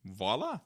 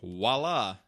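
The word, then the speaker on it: voilà: not a he-man and voila there we go or as Emily hates when people say voila she's like it's a V I'm like I know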